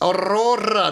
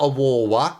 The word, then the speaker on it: Aurora: I was thinking, no, it's Aurora, not Aurora.